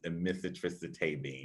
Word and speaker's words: amitriptyline: that generic brand that I mentioned, which is amitriptyline. Yeah, I did pronounce that right.